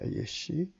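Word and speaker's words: יֵשׁ: substance는 발음이 예시입니다. 예시.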